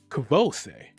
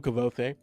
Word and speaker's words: Kvothe: I call him Kvothe, but he calls himself Coat.